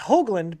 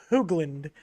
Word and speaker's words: Hoagland: last name wrong it it's hoagland by the way i i'm used to people pronouncing it wrong but a lot of people say it's hoogland um so that was